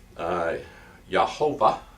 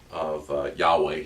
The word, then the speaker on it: Yahweh: And again, as we've mentioned in our class, we pronounce the Yahovah or Yavah. Yavah is also a pronunciation of Yahweh here. And so you can pronounce that word a couple of different ways and be correct.